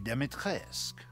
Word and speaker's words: Dimitrescu: The first you've already met, the Lady Dimitrescu.